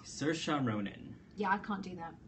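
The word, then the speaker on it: Saoirse Ronan: Cir Ronin. Yeah. I can't do that. Great. Wow. Um, you look at the spelling of her name and you probably want to get that immediately, but Cersa Ronin, I remember when she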